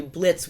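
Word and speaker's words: Blitzø: But, when Crimson meets Blitz, he says, you must be Blitz with the silent O.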